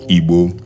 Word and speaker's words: Igbo: It is pronounced Igbo in Yoruba accent.